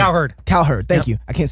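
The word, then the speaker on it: Cowherd: so I was watching I love Colin K herd uh Colin herd I don't know Colin C herd I he C herd C herd thank you I can't say it right but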